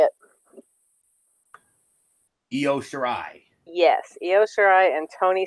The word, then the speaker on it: Io Shirai: Io Shirai.